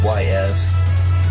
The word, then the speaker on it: Ys: It's YS, but it's pronounced Ys.